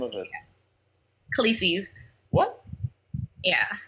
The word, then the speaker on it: Khaleesi's: Khaleesi's. What? Yeah. How do you say it? Khaleesi's. How do you spell that?